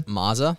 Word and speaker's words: Mazza: your last name again Mazza Mazza Lego Mazda without the D with two Z's that's far I have